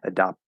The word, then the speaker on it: adopt: So here, you can potentially drop the T and just stop the P, adopt, and that's fine.